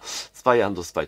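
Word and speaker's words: スパイvsスパイ: まよくあるねバーサスと読むかア読むかみたいな感じですけどもスパイアスパイと読みますはいでこれま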